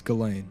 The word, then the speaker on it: Ghislaine: It's Ghislaine.